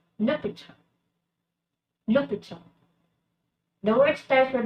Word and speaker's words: l'hôpital: And in French, it is pronounced as l'hôpital.